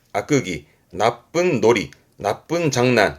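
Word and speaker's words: 悪戯: 발음은 악끄기 아끄기.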